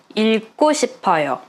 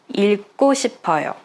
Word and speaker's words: 읽고 싶어요: Just be careful with the pronunciation because it's double consonant 받침.